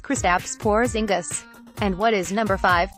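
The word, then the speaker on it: Kristaps Porziņģis: Dupri Johnson continued for it's pronounced kristaps porzingis and what is number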